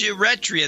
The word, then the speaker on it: Eritrea: you Rita or something I know it's pronounced you Rhett Rhea that's the way it's pronounced I've always pronounced it